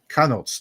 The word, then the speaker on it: Kienholz: I don't mispronounce it. Kienholz.